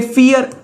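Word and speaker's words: vier: Drian ज्वंजिश 23 को Drian ज्वंजिश 24 को लिख सकते हैं हम 20 + 4 तो पहले फोर को लिखेंगे फियर फियर फिर उन जुआज़ेश फियर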